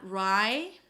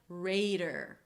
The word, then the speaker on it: raider: So round your lips and pull the tongue in - rrr, and then it's the /ei/ as in day, /rei/ /rei/, right? Not, 'rai' - rider, like a horse rider - but 'reider'.